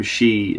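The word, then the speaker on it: sidhe: so and the term she is s idh evil is pronounced she which is a Gaelic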